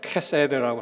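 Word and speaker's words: חסד: 원어로 발음하면 헤세드라고 하는데 제가 좀 쉽게 해서 그냥 헤세드라고 읽겠습니다.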